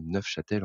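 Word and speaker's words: Neufchâtel: à voir euh donc enfin c'est neuf Châtel en vrai il faut il faut prononcer le F euh donc qui fait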